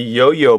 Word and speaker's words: IOIO: brains of it is the yo-yo board that's spelled IO IO and uh really nice